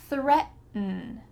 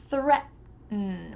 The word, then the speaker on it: threaten: Threaten, threaten. My tongue is stopped at the top of my mouth. I didn't say threaten.